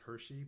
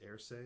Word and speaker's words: Hershey: My last name before that was Hershey, but it's actually pronounced Erce because it has a Hispanic or Latin background or Hmm. meaning, and that means goat herder in Spanish. So that's weird.